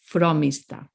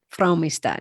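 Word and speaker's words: Frómista: the vowel or anything it is telling you where you need to put the emphasis so if it's on that o the emphasis goes on the o so fromista fromista no negotiating fromista okay granon gr and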